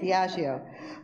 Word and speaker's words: Diageo: Is that how you say it? Okay, Diageo. I thought it wouldn't be quite as bad as mispronouncing somebody's name, but still it wouldn't be good. I said Diego.